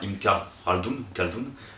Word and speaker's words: Ibn Khaldun: propos, c'est l'historien berbère, enfin Ibn Khaldun, enfin comme on prononce à la française, mais il faudrait rouler le R, et Ibn Battuta.